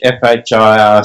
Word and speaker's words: FHIR: And you know that in English, FHIR sounds like fire, and I thought that was a pretty poor joke when we first did that. In English, FHIR sounds like fire.